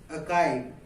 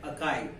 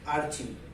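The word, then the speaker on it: archive: तो इसका जो उच्चारण होता है वो होता है अकाई। तो ये आपको ध्यान रखना है, नॉट की आर्चिव, ये गलत है, और इसमें आर साइलेंट रहता है।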